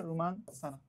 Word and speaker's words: রোমান সানা: প্রথম জিতছিল হচ্ছে রোমান সানা আর কি, বাংলায় উচ্চারণ হচ্ছে রোমান সানা।